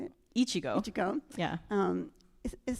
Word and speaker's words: Ichigo: Yes, I'm sure they may but there um the first game they work on together a chiku. Is that how you say it? Ichigo.